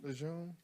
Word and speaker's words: Lejeune: Lejeune. Say it one more time. Lejeune. Lejeune? No, Lejeune. Lejeune. Camp Lejeune. Oh, okay, like Camp Lejeune.